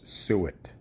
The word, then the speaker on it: suet: In case you don't know how to pronounce it, it's suet, like phonetically S-O-O-et.